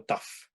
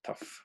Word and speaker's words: tough: Hasta suena, la GH hace un sonido tough. De F, perdón, tough.